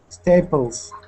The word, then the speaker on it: staples: Staples. Okay, so staples with a Z, that's with the S, that is the plural form.